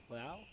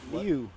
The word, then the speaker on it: Liu: It's myself here, Ashley Davies, joined by other top SDA professional, Liao. That's not how you say it. How is it? Liu.